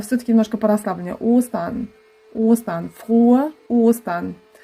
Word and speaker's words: frohe: В слове frohe у нас долгое «о». Это значит губы вперед, отверстие маленькое и челюсть вниз. «О». Потом идет очень расслабленная Она не она такая Frohe. Frohe. Вы просто расслабляете все, и тогда получается правильный звук.